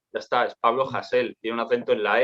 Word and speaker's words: Hasél: de hacer el ridículo si hay un acento en la e no es hámster es Hazel ya está es Pablo hassell tiene un acento en